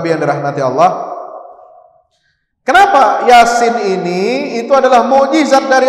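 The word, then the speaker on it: يس: Mim itu cara bacanya baca Yasin bukan Yas Nah itu apa ni Yas enggak ada Yas ya baca HAM mim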